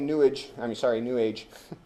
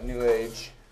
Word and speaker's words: New Age: So not only New Age. I like to, we pronounce it like sewage.